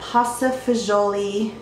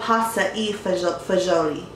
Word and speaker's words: pasta e fagioli: And the first meal is called a pasta fagioli, I think that's how you pronounce it, soup. It's actually called pasta e fagioli.